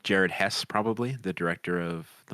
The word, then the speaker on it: Jared Hess: Maybe I'm getting his name wrong. No, it's Jared Hess.